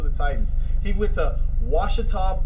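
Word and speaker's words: Ouachita: titans he went to washita baptist that's o a something like it's it's spelled with a oh and a washita baptist and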